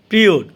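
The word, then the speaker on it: period: পিরিয়ড অর্থ সময়ের, পিরিয়ড অর্থ সময়ের। এখানে আরের উচ্চারণটা হবে কারণ আরের পরে আছে ভাওয়েল আই।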